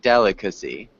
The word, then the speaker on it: delicacy: It is 4 syllables. Delicacy. Delicacy. So remember the 4 syllables.